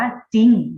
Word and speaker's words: จริง: จะ วิ่ง นะ ครับ เรา จะ อ่าน ออก เสียง ว่า จริง นะ คะ โดย ที่ เรา จะ ไม่ อ่าน ออก เสียง ตัว รอ เรือ อยู่ ไหม คะ size